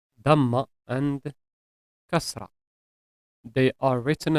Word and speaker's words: damma: Damma is a short vowel pronounced like the English letter U, and it is always above the letter.